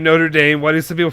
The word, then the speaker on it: Notre Dame: But yeah, for the college, it's Notre Dame. Is what it's called. So my mom pronounces it the bottom way. Notre Dame. She puts Notre the extra R in Dame. there.